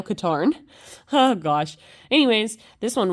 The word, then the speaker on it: Katarn: I always pronounced it Kyle Kataran, but it's I think it's Kyle Katarn.